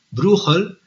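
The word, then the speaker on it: Brueghel: eh bruel o bruegel pero en flamenco se pronuncia bruel eh este es Pita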